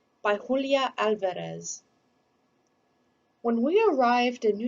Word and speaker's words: Alvarez: our name to myself opening my mouth wide for the organ blast of the ah trilling my tongue for the drum roll of the r alvarez how could anyone get